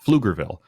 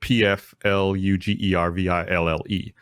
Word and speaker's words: Pflugerville: a suburb uh just north of Austin called Pflugerville. And it's spelled p f l u g e r v i l l e.